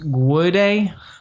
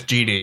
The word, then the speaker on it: GD: I think it's pronounced Guede. I think it's pronounced? No. I was on a chat with him. It's GD.